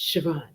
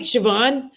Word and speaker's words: Siobhan: And I was like, it's Siobhan. And like every few minutes, this is the ADHD brain, by the way, y'all. Because I was like, what if they say something? And then I'm like, right, Siobhan, but I need to make sure I'm saying